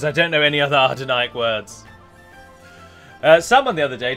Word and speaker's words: Adûnâim: poor way I'm pronouncing Adûnâim, a lot of you think that it's spelled A-R-D, but it isn't. It's just pronounced as if it's A-R, like father. The word father.